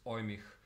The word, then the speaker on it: Eumig: this exact model is ohmic I think it's pronounced like that it's made by Austrian